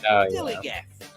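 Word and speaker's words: DILLIGAF: In a word, dillygaff. That's spelled D-I-L-L-I-G-A-F, dillygaff.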